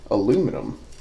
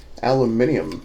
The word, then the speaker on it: aluminium: I think that what this is aluminum. Aluminium, as our friends across the lake say. I like aluminium better, if I'm honest. Any opportunity to add a syllable, and I'm a very happy little camper.